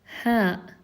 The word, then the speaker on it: ه: So the first one is ha, ha, ha, ha. And the other one is al-hamza, and we pronounce it a, a, a.